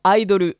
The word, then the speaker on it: idol: ça est très réglementée idol ça s'écrit idole mais ça se prononce bien idol en anglais ou aïd le en japonais ça vient à l'origine